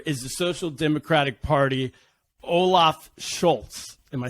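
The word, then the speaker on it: Olaf Scholz: his main competitor is the social democratic party olaf schultz am i saying that right he's the leader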